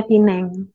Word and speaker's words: Penang: atau gimana Ya tulisannya Tulisannya Penang tulisannya Penang bacanya Pineng Iya Pineng begitu Pineng